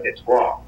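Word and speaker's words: Détroit: شهر دیترویت در واقع شهری فرانسوی است و اسمش هم فرانسویه، در فرانسه بهش میگن دتوا که بعدن انگلیسی ها به اصطلاح تلفظش رو عوض کردن شده دیترویت.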